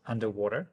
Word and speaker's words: UNDW3: at now um UND uh W3 which is pronounced underwater underwear underwater it's under water I'll take your